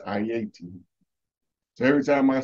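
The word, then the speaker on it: Ayiti: call it hey because that's not the correct pronunciation of the name it's I-80 so every time I say Haiti I hear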